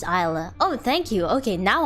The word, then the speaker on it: Isla: difficult for example um isla is a correct pronunciation right but people can like call me ayla or ah allah i